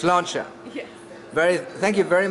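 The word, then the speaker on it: sláinte: do you say cheers in Irish okay it's launcher yeah very thank you very much Stephanie what's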